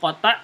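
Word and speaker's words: قطع: Perhatikan sini ada hamzah hamzah wasal atau hamzah qata dia. Hamzah wasal Ustaz. Hamzah qata ya. Hamzah qata ya. Qata bukan qata. Qata qaf ta ain.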